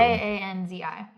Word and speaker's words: Kanzi: next we have the is it kanzai you think or kanzi kanzi or kansai that's how you spell it wherever k-a-n-z-i i would say kanzi okay so this one